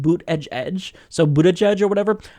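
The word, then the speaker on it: Buttigieg: win again so I am not feeling the butt gek and I know that I'm mispronouncing his name it's actually pronounced boot Edge Edge so bued Edge or whatever I'm just going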